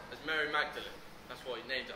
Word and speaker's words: Magdalene: But so that people remember who he was, he changed the pronunciation to sound like his last name, Audley.